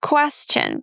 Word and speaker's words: question: The next word is my favorite, question. A lot of students say question stion. It's not s t, it's s plus the ch sound as in church.